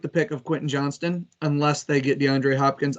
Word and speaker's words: Johnston: I don't know why they put a T in Johnson. It just throws me off every time. Like Johnston, it makes me throw the whole word out.